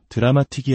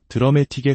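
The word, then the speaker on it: dramatic: 우리가 자주 쓰는 드라메틱이라는 단어도 드라마틱이 아니라 드라메틱에 가깝게 파이널리도 파이널리가 아닌 파이널리처럼 첫음절에 강하게 힘을 주어 발음해야 합니다.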